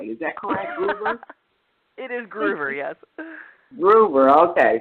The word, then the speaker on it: Gruver: I want to do is make sure i pronouncing your last name why is that clever it is groover yes ruber okay like Ruby macgruber I'm you